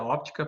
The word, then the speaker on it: óptica: a parte de ótica, só que óptica, na verdade, se pronuncia óptica, porque é ótica sem P, é o estudo do ouvido. Óptica com P é o estudo da luz, da como a gente enxerga a luz e tal.